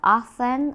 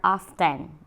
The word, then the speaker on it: often: percent often or often there are two how to say these words to we have often or often okay often or often it's just the same 70 example we often